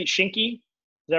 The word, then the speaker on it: Shinki: then you have what is it am i pronouncing it shinky is that right yeah that's correct yeah what